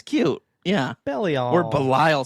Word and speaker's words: Belial: It's not pronounced Belial. It's Belial. Belial. Oh, that's right. Belial. Which sounds all kinds of wrong to me. It does. It's like, look at that belly.